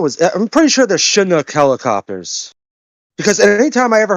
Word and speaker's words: Chinook: Isn't Chinook, look, the helicopter, it's pronounced with the like a SH sound, right? Like Chinook.